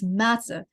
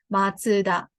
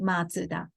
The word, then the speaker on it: Mazda: in Western People pronounce matter but actually the the correct pronunciation in the car manufacturer name is matsuda like it's originally the family name the um founder of the person's name matsuda okay so we studied